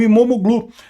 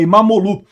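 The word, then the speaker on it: İmamoğlu: A, aliás, o regime do Erdogan prendeu até o prefeito de Istambul, o Imomoglu. Falei sobre isso, aliás, não se pronuncia o G, né? e é Imamolu, eh eh que é o principal opositor do país.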